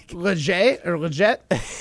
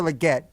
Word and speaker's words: Legette: And then there was Xavier Legit. Legit, dude. Too legit How to do you quit.